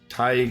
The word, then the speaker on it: Tadhg: And today we have a guest, Tadhg Hickey. Is that right? Am I saying Beautiful. that right? Yeah, it's beautifully pronounced.